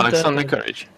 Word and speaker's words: Alexander Courage: Dun, dun, dun, Alexander Courage.